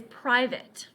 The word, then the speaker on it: private: in this way that fits with these other pronunciations, climate, okay? And then of course the oddball. Our first word is private.